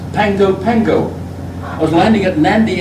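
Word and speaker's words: Pago Pago: Double G in Greek is pronounced as in ng. The same is I remember so well that's pronounced Pango Pango.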